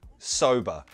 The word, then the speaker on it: sober: Pronunciation, sober. It's got that nice schwa sound at the end. But remember, in American English is rhotic, so it wouldn't be sober, it would be sober.